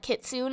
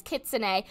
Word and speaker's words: Kitsune: I remember saying it like Kitsune, and everyone told me I said it wrong, so I think it's Kitsune. Please correct me if I am wrong, because this pet is so cute.